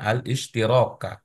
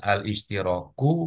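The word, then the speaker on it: الاشتراك: pertimbangan untuk konteks ini Pak Bambang membacanya alistiraka bukan alistiroku bukan pula al-isytirqi kira-kira Apa Pak Oh ini ada ada f pak guru ya Nah itu dia kan jadi menarik tuh ada Fi setelahnya tetap alistiraka seperti yang sebelum-sebelumnya tidak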